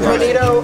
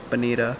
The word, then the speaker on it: bonito: The Bonito, which apparently it's Bonito, not even Bonita.